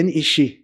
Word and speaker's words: NEC: Electronic Company, Na verdade, a gente fala NEC, é NIC, né, a pronúncia correta, né, NIC.